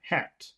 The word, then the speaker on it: hat: listen to the length listen to the duration of the vowel sound for number one hat hat here's number and here's number two had head mhm because when you have the letters that you swallow the the vowel becomes longer so number one is